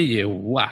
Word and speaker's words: Yehuwa: Anda bacanya Yehuwa yang benar. A, Yehwah. Yehuwa. Ya, Yehuwa. Bukan Yahweh.